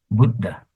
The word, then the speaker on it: Buddha: Don't say Buddha. Buddha. No. Wrong. Say Buddha. Bu is short. Budda.